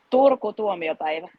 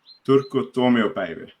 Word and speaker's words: Turku Tuomiopäivä: How do you pronounce the competition? The name of the competition? Turku Tuomiopäivä. Turku Tuomiopäivä.